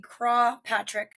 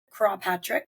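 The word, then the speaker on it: Croagh Patrick: Patrick stood on a hill, often said to be Craw Patrick. It's Croagh. I'm assuming that's how you pronounce it. Craw Patrick.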